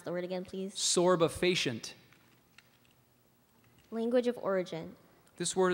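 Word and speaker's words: sorbefacient: substance that produces or promotes a could you pronounce the word again please sorba facient language of origin this word is from Latin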